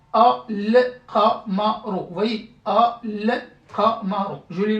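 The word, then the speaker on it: القمر: Là par contre, c'est une lettre lunaire, donc je lis le tout en fait. Al-Qamaru.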